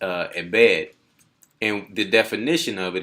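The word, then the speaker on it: עֶבֶד: number for that word is h5650 and it's pronounced uh embed and the definition of it is a servant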